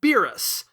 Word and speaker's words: Beerus: As you've no doubt already noticed, I agree wholeheartedly with the more common angllicization of Beerus, as it rather ingeniously incorporates both the beer and virus meanings while keeping the original pronunciation far more intact than any other variant.